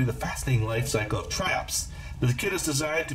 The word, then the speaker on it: Triops: Triops, pronounced Triops, which are also called tadpole or shield shrimps,